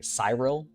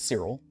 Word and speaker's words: Cyril: Some people get Sirill's name wrong. I've had people say Cyril instead of Sirill. Um, but it's it's Sirill.